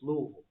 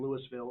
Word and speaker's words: Louisville: told no uncertain terms it's Louisville it's Louisville and just gave me a hard stare okay because I made the mistake of saying Louisville of course because you